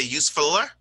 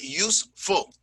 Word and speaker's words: useful: face when i say are we going to say use filler no we're not we're not going to say that you're going to it's two syllables right use full so you're going to